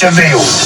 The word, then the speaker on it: Vil: It's spelled devil, but it's pronounced Vil.